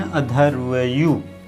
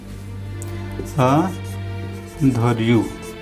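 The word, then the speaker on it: अध्वर्यु: उच्चारण करने वाले को अधर्यु है, आधा ध रहेगा, इसके बाद पूरा व रहेगा, इसके बाद यू रहेगा, अधर्यु कहते हैं। ठीक, इसके मंत्रों को उच्चारण करने वाले क्या बोलते हैं? अधर्वयु कहते हैं।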